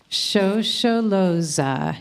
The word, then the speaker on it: Shosholoza: your order of service, and I'm going to pronounce the words so you can sing along. Shosholoza.